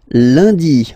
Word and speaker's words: lundi: And in France, the week starts with lundi, Monday. Lundi, lundi. Okay, remember, UN is pronounced like un.